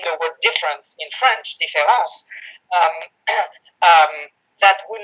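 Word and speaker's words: différance: is heard, so that people in English say différence rather than difference, which is the way in which the word should be pronounced in order to make the point.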